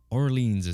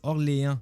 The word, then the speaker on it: Orléans: Orleans, c'est la prononciation anglaise. Avec les années, le nom du village aurait été modifié. Ce n'est que dernièrement que le Orléans a reçu sa prononciation officielle.